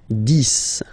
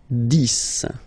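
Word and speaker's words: dix: 10, okay, so remember, final X here is pronounced like S, 10, 10, okay, then 11, 11,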